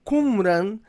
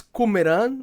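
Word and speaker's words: Qumran: na eh região de Kumran. Eh, o Dr. Rodrigo Silva diz Kumeran, né? Acho que é a é a é a pronúncia correta até do pessoal de Israel, né?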